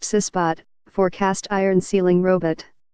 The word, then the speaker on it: CISBOT: It goes by the matter-of-fact name CISBOT, pronounced CISBOT, for cast iron sealing robot.